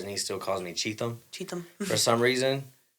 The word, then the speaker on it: Cheatham: is your last name is it Adam or cheat them how do you say it I don't want to say it wrong cheat them cheat them that's what I thought yes don't don't feel